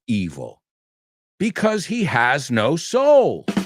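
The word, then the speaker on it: Seoul: Just be careful with the spelling of it in English, because it's not Seúl. It's soul. S-E-O-U-L.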